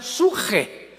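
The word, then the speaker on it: ψυχή: de Pedro, de Samuel, psuche, que en el hebreo se pronuncia suje, porque la CH se pronuncia en hebreo como J.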